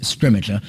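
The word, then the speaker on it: Scrimgeour: how to say his name and going with scrimmager I think that's how we've ended up saying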